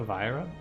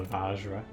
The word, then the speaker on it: Vajra: vira out of it i think i've been pronouncing this wrong by the way i don't remember who i heard call this a viral i think it is just a vajra bias cognition that's focus